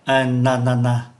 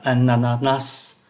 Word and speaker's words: ananas: cái danh từ này có hai cách phát âm chúng ta có thể phát âm là a na na và có thể phát âm là ananas này thì đều đều có giá trị giống nhau hết a na na hoặc là ananas thì cái cây của